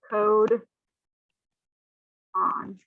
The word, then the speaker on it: codon: it's spelled c-o-d-o-n and this is pronounced code on okay and then three